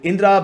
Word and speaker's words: Indra: On to the next one though, you have Indra and Asura. Yeah, I'm not sure how other people pronounce this, but in India it's Indra and Asura.